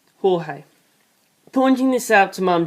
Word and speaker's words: Jorge: called me George and everyone pronounce my name the Spanish way Jorge pointing this out to